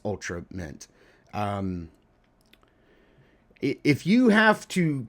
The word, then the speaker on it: Ultramate: we would know that it's not ultra mate or ultra mitt. It's ultra mitt. Like ultimate but it's ultra mitt.